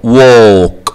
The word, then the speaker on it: walk: ال a l ال a هنا ما بتنطقش a بتنطق o. long o. walk.